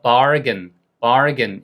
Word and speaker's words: bargain: 노란 색깔로 해 드릴게요 그래서 이게 길게 발음하니까 바르겐 이렇게 되거든요 그런데 이게 가끔 90% 사전은 이거를 근이라고 표기하고 있고 그 다음에 어떤 10%의 외국 사전들은 이걸 김이라고 표시한 그러한 사전들도 있어요 그런데 실제로 중요한 건이 발음을 시켜보면 원어민의 90%가 다 발근이라고 발음을 해요 그러니까 특히 미국식 영화에서는 예외 없이 이거를 바인이라고 하지 않습니다라는게 포인트 자 그럼 이것도 해보세요 분수